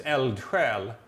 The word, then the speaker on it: eldsjäl: Eltrel. Yeah, eldsjäl. Eltrel. Yeah, it's a Okay. difficult one because Yeah. we have that J pronunciation, which is very Swedish, but it means basically your soul is on fire.